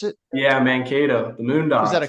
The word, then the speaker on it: Mankato: I'm pulling up where Mankato, is that how you pronounce it? Yeah, Mankato, the Moondogs.